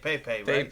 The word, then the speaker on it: Pepe: here we've got uh Pepe is that how you say it you say it pay pay yeah so uh we